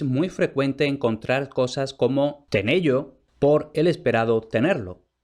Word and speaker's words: tenello: a la primera pregunta lo que yo he pronunciado antes como tenello propiamente sería tener yo y ahora una de